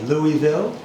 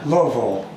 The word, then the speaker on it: Louisville: They tell me to drop it in the back of my throat. What is that? Louisville. Uh-huh. Some people would say Louisville. Uh-huh. It's Louisville.